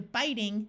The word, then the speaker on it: biting: If you look at this word and you're trying to figure out, does this I have a short I or a long I sound, ask yourself, what's the root? Here the root is bite. So the I stays long even though the E disappears.